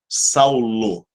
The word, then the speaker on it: Saul: como se pronuncia né E aí ficou assim na nossa transa operação Saulo né mas é Saul simplesmente Saul detalhe show saúde é assim que se pronuncia Vamos à frente vamos